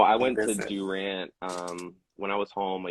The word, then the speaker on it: Durant: I said Durant.